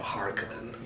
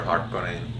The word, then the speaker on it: Harkonnen: It's always weird how they pronounce, you know, Harkonnen, you know? It's a Finnish sure name, you know. Yeah. We pronounce it Harkonnen, not Harkonnen. You know, with an A and you know.